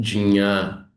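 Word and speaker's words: ज्ञा: o sânscrito védico antigo, a gente poderia pronunciar como jnã. Eu estou dizendo isso porque algumas de vocês já me fizeram essa pergunta. Então, é correto pronunciar Jnã, porque esse som do J no sânscrito, ele de fato tem o som de.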